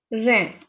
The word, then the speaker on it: reine: So it is E and I is A. Reine.